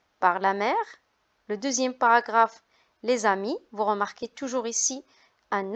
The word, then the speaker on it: amis: S devant une voyelle, on fait la liaison, on dit les amis. Alors vous remarquez aussi pour la prononciation de G, dans le mot vague, ça se prononce G parce qu'elle est placée devant U.